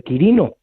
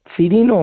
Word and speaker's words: Quirino: román romano por nombre Quirino, Cirino o Quirino, según pronuncies la fe en latín, que eso ya va